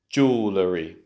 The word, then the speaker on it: jewellery: Jewellery, jewellery.